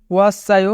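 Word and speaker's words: 왔어요: ওয়াসায়ো মানে এসেছি। এখানে বাচ্চিমের পরে ইয়ং আছে, তাই বাচ্চিমটি ইয়ং এর স্থানে যাবে, অর্থাৎ সাংসিয়ত ইয়ং এর স্থানে যাবে, তাই উচ্চারণ হবে ওয়াসায়ো।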